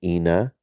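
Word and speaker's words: Ina: with moon Ena uh no it's a not e with an E it's i n a i n a Ena still pronounced the same way but yeah she's a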